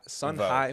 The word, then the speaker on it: Son Hai: is son son how do you say your son High son high is my middle name